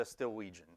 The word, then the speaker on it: Stillwegian: Um, but if you need to remember how to pronounce it, it sounds like new Norwegian. Um, so what is the Stilwegian?